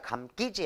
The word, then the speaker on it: 감기지: 자 피동접사 사동접사 기는 된소리로 발음하지 않아요. 원래 실패의 실이 잘 감기지 않았다 이렇게 의도적으로 힘들게 발음할 필요가 없거든.